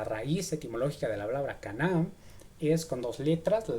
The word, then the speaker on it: קנא: Cana. Con acento en la a. El caná.